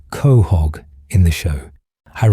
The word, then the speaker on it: Quahog: It's pronounced Khog in the show, her reflecting southern New England dialect.